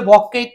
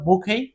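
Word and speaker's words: bouquet: এই যে বুখেই এই বুখেই অনেকে বলবে বকেট না এটা আসলে বকেট টকেট না এটা হল বুকেই কেন বুকেই হবে কিউ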